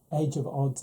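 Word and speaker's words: The Age of Adz: recommend age of odds so even though it's about adz age of odds is how it's pronounced and this is a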